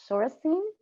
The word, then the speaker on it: Sorenson: Sorstein. You can talk. I'm sorry if I got your last name wrong.